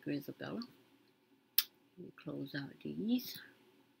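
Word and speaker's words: Grizabella: Okay, that's how you pronounce it, Grisabella.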